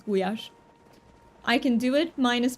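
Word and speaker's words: gulyás: You pronounce it guash in Hungarian. So it's not goulash the way uh in English it is like you are absolutely correct about that ritual but in Hungarian it's gash.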